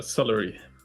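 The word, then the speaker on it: Seleri: Is it Ceri or Celery? Uh, Celery. Okay.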